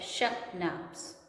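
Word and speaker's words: schnapps: We have sashnaps. We have sauces. So sashnap is children. This word is pronounced as sahnaps. Okay, this is pronounced as shahnaps.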